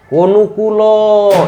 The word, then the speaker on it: অনুকূল: এরকম বলতে পারবো না অনুকূল থেমে যাচ্ছে শব্দটা কিন্তু পক্ষ শব্দটা কিন্তু থেমে যাচ্ছে না পক্ষ চলতেই আছে তাহলে যেখানে চলতেই থাকবে সেখানে হচ্ছে আমাদের অক থাকলে সেখানে ওকার ঠিক আছে তাইলে উচ্চারণের শেষে যদি অচ্চারিত হয় তাহলে সেখানে ওকার হবে হ্যাঁ আর যদি অচ্চারিত না হয় তাহলে হসন্ত বসবে আচ্ছা দেখো অনুকূল শব্দটা আমরা